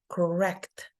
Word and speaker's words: correct: And then we have the word correct. So correct. We can see that the word is divided in two, and that the diacritic here, the symbol, is before the second syllable, telling us that the pronunciation is correct.